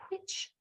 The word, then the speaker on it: which: go should be why when you see a w together it should be only a blowing sound we say it when we speak really lazily but it should be pronounced as in which why whea all right so I'm